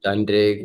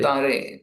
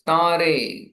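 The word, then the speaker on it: তারে: Tare, not Tandre. I just told you, na? It's Tare, Tare. That is N is silent.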